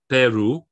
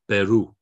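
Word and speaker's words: Perú: syllable the penultimate syllable what this little accent is telling us is no actually we're going to go against the normal rules the stress is going to be there it's going to be on the final syllable so instead of peru which would be without the accent is peru okay so again um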